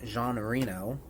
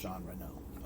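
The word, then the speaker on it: Jean Reno: Professional stars of one jean Rino who's a French assassin Hitman it's pronounced Gen R no okay fine I've never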